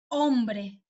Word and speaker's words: hombre: Pero la H generalmente es muda, no se pronuncia, ¿sí? Por ejemplo, helado. Hombre.